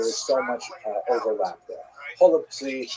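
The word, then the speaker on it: голубці: Holubtsi, right? Some people would say with the German or with the Russian pronunciation, golubki, which is cabbage rolls, right?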